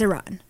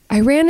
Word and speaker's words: Iran: Iran Iran Iran it's is that the correct pronunciation is Iran I think so in he's yeah it's a run and Iran is just like a really redneck II American Way too right yeah Iran I'm